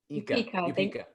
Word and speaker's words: Upeka: Upeka or Upeka? Upeka. Yes, Upeka. Want to make sure I pronounce it right.